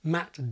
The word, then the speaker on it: ma: If that word was followed by a vowel, you'd have to add an R. So you'd say, is Myra upstairs?